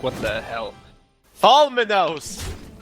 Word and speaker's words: Tholwmenos: We're looking at you, Tholwmenos Army. We're getting a correction here on how we should pronounce this guy's name. I believe, Tholwmenos?